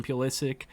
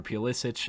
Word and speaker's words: Pulisic: Christian Pulisic, or Pulisic, I think he likes to be called Pulisic, but said that both pronunciations are technically correct, has been, I think,